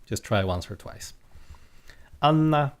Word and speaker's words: Anna: Anna is kind of easy, accent on the first syllable.